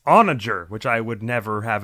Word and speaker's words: onager: i meant to say i looked up the pronunciation of that catapult thing with the boulders and it's onager which i would never have ever expected so